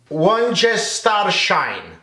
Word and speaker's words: Worcestershire: the moment and people struggling with how you pronounce the name of this secret sauce. Worcestershire.